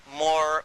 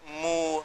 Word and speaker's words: Moor: What connects it up is even the word Moor, because it's pronounced differently in different parts of even of Africa. And they call themselves Moor, Mu, Mur.